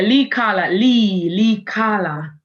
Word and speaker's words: Leicala: Have I pronounced it correctly? Okay. Yeah. Leicala.